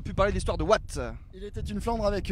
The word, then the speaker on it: Watten: Et on a également pu parler de l'histoire de Watt. Il était une Flandre avec Eric Vanneville, où on revient sur l'histoire de cette ville qui s'écrit Watten. On va peut-être savoir pourquoi ça se dit Watt, je ne sais pas,